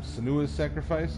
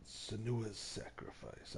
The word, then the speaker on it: Senua's Sacrifice: And I am playing Hellblade, Senua's Sacrifice, I think is how it's pronounced.